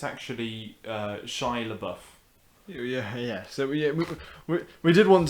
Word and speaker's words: Shia LaBeouf: I think it's pronounced Shia LaBeouf. Oh, it's Shia LaBeouf.